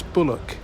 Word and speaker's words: Bulwarks: name of the lane the Lane's official name is spelt b u l w a r KS uh so that's bulock in the sense of a defensive wall but um I ran